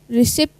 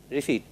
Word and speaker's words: receipt: Aging, Aging, aging, being, sailing, conceive, deceive, deceit, deceit, deceive, forfeit, leisure, leisure, leisure, protein, seize, receipt, receipt. receipt, P receive. is silent.